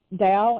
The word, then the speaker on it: Tao: Tao, even though it's a T? Okay. It's pronounced as a D, yeah. Okay. So that which Lao Tzu called the Tao, literally translated means the way.